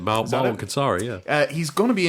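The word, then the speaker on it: Marwan Kenzari: So his name is Marwan Kansari. I'm really sorry if I've just butchered the pronunciation. No, that's actually it. Marwan Kansari.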